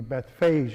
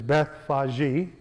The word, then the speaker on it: Bethphage: the aramaic name for bethphage is there are two pronunciations for this the one common one which i don't use very often is beth faji beth faji or beth phage capital a and i'll